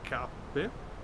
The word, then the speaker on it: Cappe: Okay, Robert to Zulu is fine, but from Cappe, I'm pronouncing it in Italian, of course. It's like KP in English, but or Cape, whatever. It's Cappe. If you we are in Italy, so it's Cappe.